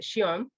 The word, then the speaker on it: Zion: of zion nursery school they pronounce it shion nursery school in okinawa so to